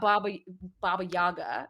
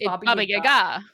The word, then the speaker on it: Baba Yaga: be a Russian speaker, they also pronounce his name wrong because it's not Okay, here's a fun fact for everyone. It is not Baba Baba Yaga. It's Bobby Gaga.